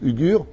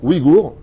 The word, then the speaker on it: Ouïghours: D'après donc les Uyghurs, comme ça qu'on prononce, Ouïghours, autant pour moi, d'accord, basés à Washington.